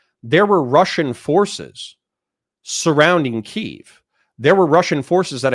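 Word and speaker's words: Kyiv: it actually got okay there is this is ke or Kev as I used to pronounce it this is the the capital of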